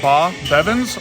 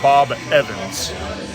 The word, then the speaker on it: Bob Evans: you now Bob Evans you can pronounce it ba Bevins or Bob Evans Bob Evans okay so